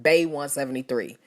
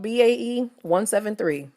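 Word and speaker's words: BAE173: label Pocket Doll Studio are begging for me and many others to incorrectly call them Bay 173. Instead of allowing before anyone else to be pronounced how everyone else who knows the word says it, they want to be called BAE 173.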